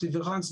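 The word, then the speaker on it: différance: differance differance it's pronounced differance but it can be written spelled differently but it's the same pronunciation so D also said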